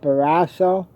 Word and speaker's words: Barrasso: Senator John, I believe you pronounce it Barrasso.